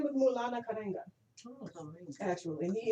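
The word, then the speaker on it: Maulana Karenga: Could you pronounce his name one more time, please? His name is Mulana Karenga, Oh, Karenga.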